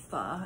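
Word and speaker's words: phở: But I can tell you it's probably because I had pho last night, or pho as some people pronounce it, or pho as some people pronounce it, but it's actually pronounced pho, and I got that from a Vietnamese friend of mine.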